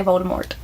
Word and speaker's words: Voldemort: interview she did like you're actually not supposed to pronounce the T in Voldemort but we all do and even in the movies they say Voldemort and he actually emphasizes